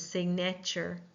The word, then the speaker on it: signature: The correct pronunciation of this is signature, but too often we will pronounce it with a schwa syllable because it is the middle syllable.